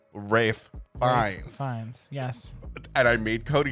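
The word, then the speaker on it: Ralph Fiennes: Ray fines which we just found out is pronounced Rafe Vines yes and I made Cody say it because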